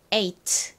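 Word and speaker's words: eight: 여기서 무음이 되기 때문이죠에서 gh 항상 무음이 된다라고 기억을 해두시면 됩니다 그래서 아가 가진 소리와 t 가진 트 소리만 남게 됩니다 보통 앞에 이렇게 이와 같은 모음이 아니라 자음이 왔을 때에는 아라고 발음이 되는데요 요렇게 모음이 왔을 때에는 아가 e 소리가나요 그래서 8 이렇게 발음됩니다 자 다시 한번 더에서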